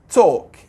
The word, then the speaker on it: talk: لاحظ ال لا تلفظ، لا نقول talk talk.